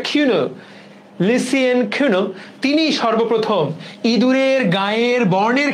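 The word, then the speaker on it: Cuénot: technology চুয়েটন নট French নামগুলা এইরকম এ আসল উচ্চারণটা কিনো লিসিয়েন কিউনো তিনি সর্বপ্রথম ইদুরের গায়ের বর্ণের ক্ষেত্রে লিথাইলজিনের উপস্থিতি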